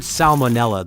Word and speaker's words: salmonella: In the word salmonella, the first letter L is pronounced, despite many English speakers tending to soften or skip it in casual speech.